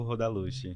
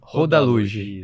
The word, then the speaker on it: Rodaluge: A primeira pergunta de todas, como que pronuncia seu nome? Rodaluge. Rodaluge.